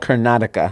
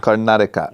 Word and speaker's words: Karnataka: okay next up what's the how do you pronounce the city where your parents are from it's a state it's called Karnataka Karnataka okay so in Karnataka maybe this is where